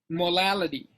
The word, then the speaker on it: molality: Molality. Now these two can be different, can be confused because molarity is spelled with an R. Okay. Molality is spelled with an L.